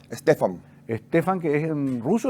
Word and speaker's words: Stephan: Estefan. Estefan, que es en ruso, Esteban, ¿no? Claro, así mismo es. Sí, pero Estefan se pronuncia. Stepan se escribe, se pronuncia Estefan. Porque si fuera en inglés sería Stephen.